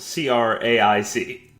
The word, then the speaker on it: craic: It's spelled C-R-A-I-C.